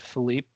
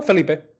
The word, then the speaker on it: Felipe: And Philip? Actually, how do you say your name? No, Felipe.